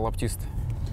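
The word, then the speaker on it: лаптисты: нас называют по-всякому но правильное произношение это лапти ст а часто такое бывает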